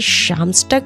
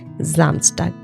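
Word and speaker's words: Samstag: এর সঙ্গে একটা কনসোনেন্ট ব্যবহার হয়েছে তাই এসটার উচ্চারণ হবে স এর মত স্টার্ট হয় এস জামসটাক এখন দেখুন এখানে কিন্তু আমি সামসটাক পড়িনি সামসটাক পড়িনি এখানে আমি পড়েছি জামস্টক জামটাক কেন কারণ এই এসটা যখন এসটার সঙ্গে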